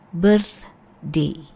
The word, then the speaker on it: birthday: Birthday. Oke, birthday. Ya, next kita punya acara. Nah, ini bacanya, how do we pronounce this?